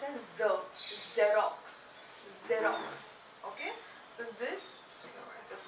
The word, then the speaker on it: Xerox: so though it is an x it is pronounced as the xerox xerox okay so this is not working so